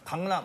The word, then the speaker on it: 강남: 아 그 일본은 받침이 없잖아. 받침이 없어. 일단 강남. 응이 없다. 이응 강남 뭐야 나. 이응이란 니은이잖아.